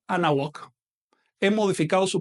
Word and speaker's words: Anáhuac: Por ejemplo, cuando uno atl con náhuatl, le elimino el sufijo TL. Así que no digo atl náhuatl, no, digo anáhuac.